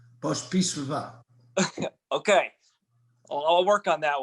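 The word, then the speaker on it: Pospíšilová: First, how do you pronounce Julie's last name? Pospislava.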